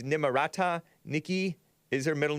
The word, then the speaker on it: Nimarata: Nimarata, it's not Nimrata, it's Nimarata.